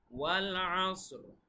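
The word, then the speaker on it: وَالْعَصْر: ওয়াল আসর, উচ্চারণটা খেয়াল রাখবেন।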